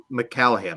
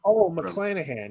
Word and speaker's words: McClanahan: She played Rue McCallahan, right? That's how you say it. McClanahan.